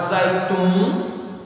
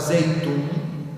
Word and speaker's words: Zeitoun: região onde tem esse bairro chamado zaytum Alguns chamam de zeitunes depende da pronúncia ali naquela região é